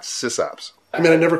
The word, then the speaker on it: sysop: We're not sysops. I mean, I never called it system operator. It's just, it's not a system operator. It's a sysop. Oh, by the way, I say sysop, not sysop.